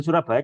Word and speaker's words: Surabaya: ejaan lama Nana surabajak dulu itu bacanya bukan Surabaya jasa Surabaya cuma penulisannya masih seperti itu pusat gaya bahasa Inggris